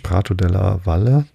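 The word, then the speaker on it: Prato della Valle: Der große Platz, Prato de la Valle, hätte ich beinahe Spanisch ausgesprochen, de la Valle, nee, es ist Italienisch, Prato de la Valle, hoffe ich, genannt, ist ein sehr weiter Raum, wo der Hauptmarkt im Juni gehalten wird.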